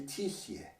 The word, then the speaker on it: Tissier: If there's a le, it is not used unless there is only one syllable in the name itself. So le page is le page, but Laetitia is simply Tissier. So that means that Mr. Laetitia would just be Mess Tissier.